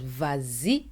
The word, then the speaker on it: vas-y: movement let's start with vazi V we pronounce it as vazi with the Lio which means go ahead